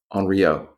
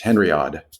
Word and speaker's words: Henriod: that was a Madame Enrio. Her name starts with an H. Henriod if you wanted to pronounce it um phonetically or as it's written.